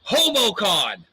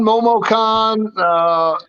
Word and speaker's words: MomoCon: into the topic I want to talk about, HomoCon. Is that right? Did I say it right this time? No. What? Yeah, HomoCon, MomoCon.